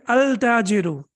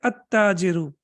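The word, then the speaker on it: التاجر: Do I have to pronounce lam over here? Can I say al-tajiru? Can I say that? Al-tajiru. Of course not. Why? Because after lam, we have tashdid. Excellent. So we will say at-tajiru, at-thawbu, ad-diku, athawb, cloth, ad-diku,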